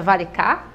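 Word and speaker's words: Varikas: Acabei de saber que o sobrenome dela, a pronúncia é Varicá, né?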